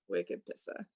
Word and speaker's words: Wicked Pissa: You got to pronounce that with the Boston accent. The Wicked Pissa. Wicked Pissa.